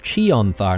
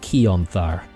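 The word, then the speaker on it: Chionthar: So, it's pronounced Chonthar, not Keonthar. So, my bad.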